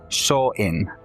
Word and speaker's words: Samhain: Essentially pronounced saw in it makes sense.